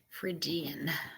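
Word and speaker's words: Phrygian: do a video and it's not spelled with an F it's pH it's p h r y g i a n yeah fan frian yeah so if you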